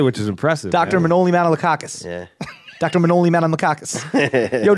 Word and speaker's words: Manolis Manolakakis: Manolis Manolakakis. I said that right? Say that when you're 5 years old trying to get through grade school. You said it right, which is impressive. Dr. Manolis Manolakakis.